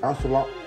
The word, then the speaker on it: axolotl: Is it axolotl? Axolotl. Axolotl. Like asking a lot of bottles.